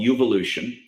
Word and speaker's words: Uvolution: I'm also birthing a platform called Uvolution. Uvolution is spelled like the word evolution with a U. So it's your evolution, essentially.